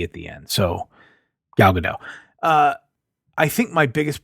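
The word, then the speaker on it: Gadot: by Laura and apparently it's it's like gal GDOT and not but I'm not no she's FR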